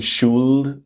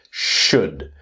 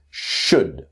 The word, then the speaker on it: should: of the pronunciation that the L is silent. The pronunciation should does not exist. It's should. It's a very short sound. It's should.